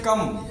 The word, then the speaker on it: come: ओ का उच्चारण आ की ध्वनि में, जैसे कम।